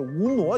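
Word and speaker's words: 无那: 它准确读音应该是无挪金龟万里愁，但我读的时候我现在也读无那金龟万里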